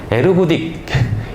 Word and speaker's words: ergodic: 첫 번째로 일가딕 랜덤 프로세스 ERGODIC 일가딕이라고 발음하는 걸로 알고 있는데 네, 대학 때 배웠을 때는 에르고딕이라고 우리 교수님이 발음을 해주실 것 같아요. 그래서 에르고딕 일가딕 랜덤 프로세스라고 말을